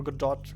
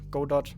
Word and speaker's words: Godot: pretty hard to answer because I've only tried Godot for one day or good dot Godot depending on how you pronounce it apparently both pronunciations are fine yeah